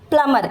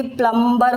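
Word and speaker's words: plumber: भी इंसान आता है उसको बोला जाता है प्लमर। इसको बहुत सारे लोग इवन एजुकेटेड लोग भी प्लमबर बोलते हैं। लेकिन ये गलत है। इसको सिर्फ प्लमर बोला जाता है। बी यहां पर टोटली साइलेंट है।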